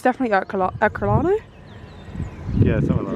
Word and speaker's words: Ercolano: At uni, I swear it was pronounced Herculaneum, but it's definitely Ercolano.